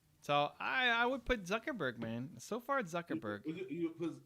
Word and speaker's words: Zuckerberg: technology in your home zurkeberg am i saying that right no change how peter not saying that right he checked i still didn't say it right zurkerberg you're still saying zerkerberg zuckerberg there you go